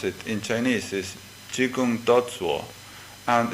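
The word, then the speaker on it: 只管打坐: of the world shikantaza that word coming from the Chinese tradition has a different pronunciation but exactly the same ideographs how we pronounce it in Chinese is chikun toso and it's very interesting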